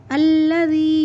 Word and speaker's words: الذی: کے پڑھیں گے خناس۔ الذی، ذال کو نرمی سے پڑھیں گے الذی یوسوس فی صدور الناس۔